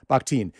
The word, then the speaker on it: Bakhtin: So you've written that in, and I want to see, am I pronouncing, is it Mikhail, is it Bakhtin? Is that correct? Bakhtin.